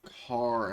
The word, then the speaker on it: Karen: near the end bloody karen of all things although it's pronounced car and he's still kind